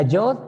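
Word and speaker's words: יוד: ¿Cómo se escribe? La Yod es la Y para nosotros.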